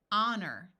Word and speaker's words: honor: t in some words H is silent at the beginning EI says a so here we have the word air honor notice that o r